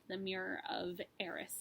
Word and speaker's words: Erised: called the mirror of Erised said not really sure if that's how you pronounce it but that's how they pronounce it in the audiobook so I'm gonna go with that all right Christmas was